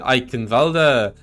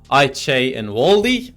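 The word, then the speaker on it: Eichenwalde: to point out uh you pronounce it eichenwalda I pronounce it I Che and Wally and uh I'll let you in chat decide whether my pronunciation is better or proxies pronunciations but FYI proxy is German um um you know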